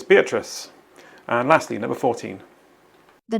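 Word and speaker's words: Beatrice: loves Adventure beet rice so what girl's name might wrongly be pronounced beet rice here's the answer the book featured a character named be rice who loves Adventure so the answer is beatric and lastly number 14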